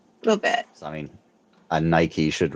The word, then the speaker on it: Nike: name no it's not it should rhyme it should be said similar because all those Greek God names the e is a long e Aphrodite yeah y y